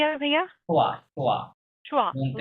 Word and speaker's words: choix: লো উচ্চারণটা কি হবে ভাইয়া? choix, choix, choix.